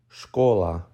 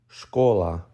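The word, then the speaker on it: школа: letter by letter Sha Ka or l a scholar scholar next up we have the Ukrainian word for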